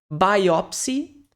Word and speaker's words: biopsy: e sound de som biopsy lembre-se que aqui esse item som de by Ok biopse inclusive várias